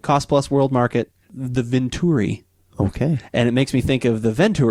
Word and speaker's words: Vinturi: no so what this Venturi this I just see I already said it wrong what this Venturi Vin does Vin as in Veno as in wine I'm sure that's what